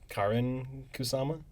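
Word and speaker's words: Karyn Kusama: I looked up interviews they always pronounce her name uh Karen kusama is that the director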